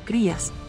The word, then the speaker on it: cría: jóvenes se conocen como crías que es la palabra española para bebé la palabra se pronuncia cría cuando se pronuncia correctamente las gallinas de Guinea